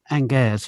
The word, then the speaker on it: Angers: and we stopped off at this town called Angers. It's spelled like Angers.